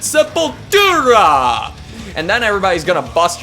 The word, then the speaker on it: Sepultura: And if you watch interviews with the band, of course they're Brazilian, they're gonna say it with the accent, Sepultura!